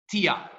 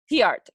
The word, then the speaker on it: Tiart: You pronounce it Tiart. Tiart. Okay. Yeah. So the best way to explain it is the letter T and a heart.